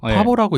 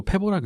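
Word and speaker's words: Pääbo: 파보라고 읽기도 하고 페보라고 읽기도 하는데 영어식으로는 페보라고 하는 것 같아요.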